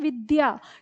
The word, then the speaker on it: विद्या: हमारा तो अब देखो हम इसके उच्चारण में गलती कर देते हैं हम इसको विद्या कह देते हैं तो विद्या कोई इसका उच्चारण नहीं होता ये होता है विद्या कैसे क्योंकि हम इसको लिखते